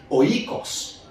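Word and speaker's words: οἶκος: Dans le grec ancien, il prononcé oikos.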